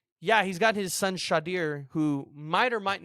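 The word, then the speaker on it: Shedeur: We know he's taking his son, and I believe it's pronounced Shadir.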